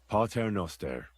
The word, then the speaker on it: Pater Noster: You're saying it wrong. Listen. It goes like this. Pater Noster, qui es in celis, sanctificetur nomen tuum.